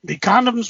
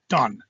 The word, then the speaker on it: Congdon: The condoms were I'm saying it wrong. Condon, Condgdon.